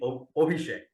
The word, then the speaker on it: Abhishek: Yeah, as my name also starts with A but sounds as O. Oh, it should be Abhishek. Abhishek. Okay. Apologies then. Anyway, Abhishek.